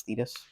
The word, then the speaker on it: Thetis: Her name, that one pronunciation, I did that right? It's Thetis.